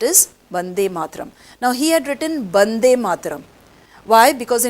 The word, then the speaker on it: Bande Mataram: bande mataram why because in bengali we don't have the letter v even rabindranath in bengali they say ravindra nattegor no they say because they pronounce v as b so we will say wande mataram but otherwise they might write bande mataram so whatever is written